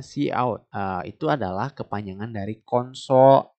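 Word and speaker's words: cout: Di line berikutnya ada chout. Chout gitu-gitu cara bacanya. Enggak, see out ya. Kita bacanya see out.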